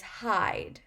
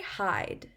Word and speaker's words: hide: end this word is hide say hide so once again that e is silent it doesn't make any sound but it changes the